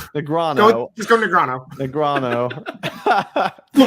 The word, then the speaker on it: Negreanu: A, Phil Hellmuth, B, Daniel Negreanu, or C, Johnny Chan? Which of the following poker players has never won the World Series of Poker main event? Phil Hellmuth, B, Daniel Negreanu, or C, Johnny Chan?